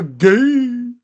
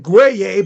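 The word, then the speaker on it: Gueye: 12 for Gay. Literally, that's his name. Muhamad. So looks like Guay, but it's gay.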